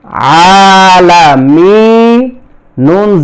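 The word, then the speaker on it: العالمين: উপরে এক জবর এখানে জজম দিতে হবে তাহলে উচ্চারণটা হবে আলামিন এখানে মিয়া মিম মাদের হরফ আর নুন হচ্ছে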